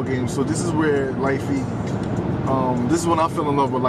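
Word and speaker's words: lite feet: Light feet. Yeah. Okay. Light feet. Spell it real quick. It's light feet.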